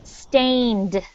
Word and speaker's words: stained: said it's stained okay so stain with the d sound stained can you try that again elsiel is almost so the stain on its own rhymes with pain like i have a pain in my leg stain and pain so stain and then the final sound stained stand good and you